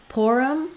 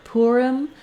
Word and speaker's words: Purim: Then when we get to Purim or Purim, there's a couple of different pronunciations here. They go along with how we tend to pronounce the word poor in English.